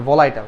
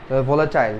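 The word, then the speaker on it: volatile: বলাইটাল ঠিক আছে বলাইটা ভোলেটাইল ঠিক আছে এটা আসলে ভোলাটাইল প্রোনাউন্সিয়েশন জাস্ট তুমি মনে রাখলে হচ্ছে ওকে ফাইন এরপর দেখে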